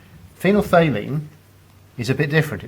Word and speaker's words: phenolphthalein: bit of a mouthful it's phenom faylene and yes that is spelt P h t h right there that's a third sound phenolphthalein is a bit different